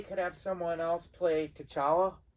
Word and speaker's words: T'Challa: have someone else play t'challa or chala i think the t is silent but like is that